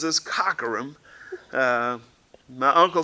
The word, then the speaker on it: Cockerham: phonetically it looks like Cockerham but my eye says is Cockrum my uncle says is Cockerham so you get